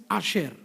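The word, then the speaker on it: אשר: The Hebrew word for the blessed here is Asher, spelt with Aleph, Shin and Resh.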